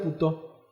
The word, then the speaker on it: Puteau: los tontos macoutes, Richmond Puteau. Así, Puteau se llama. Puteau. O sea, Pero se pronuncia puto.